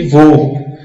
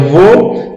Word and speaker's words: vô: Veja, vô, timbre fechado. Tem um ecozinho, ó, vô. Vó, aberto. Não tem aquele eco quando você pronuncia. Vó, aberto. Vô, fechado. Vô emite um ecozinho quando pronunciamos a palavra.